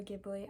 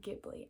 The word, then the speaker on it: Ghibli: Now, I'm an American, so I'm gonna say it like Ghibli.